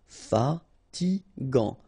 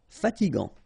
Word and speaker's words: fatigant: In that case, you've got A N, so it's gant. Final T not pronounced. Fatigant. Fatigant.